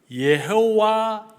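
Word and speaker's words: יהוה: 여호와 아도나이 여호와 어 원어의 발음은 예호와 예호이라고 어 말할 수 있습니다 예호 여호와라는 말이죠 나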